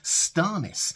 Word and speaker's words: Stannis: he says Lisa Aaron he doesn't say Stannis he sometimes says starness he doesn't even say